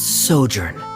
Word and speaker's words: sojourn: clear uh directors osimos how do you pronounce this word let me see Ah that's sojourn it means to stay for a while this